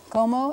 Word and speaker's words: cómo: ¿Cómo? Accent on the first syllable.